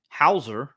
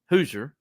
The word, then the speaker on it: Hower: and it seems like Hower excuse me hoer that's that's so he go he's called hoer uh which is but his name is spelled like Hower so it's it's I